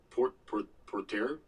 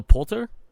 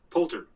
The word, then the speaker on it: Poulter: The long-dormant Ubisoft stealth series returns with an 8-episode BBC radio series starring Will Porter? P-O-U-L-T-E-R. Wait, what? Really? Will Port... God damn it, why can't I pronounce that last name?